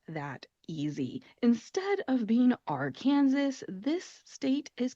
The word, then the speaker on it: Arkansas: you either, but that is how they are pronounced, Kansas and Arkansas.